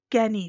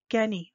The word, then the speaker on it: ngeni: me guess even any that word guinea there sounds like any there's no hard g in that sound kersi vengeni here's a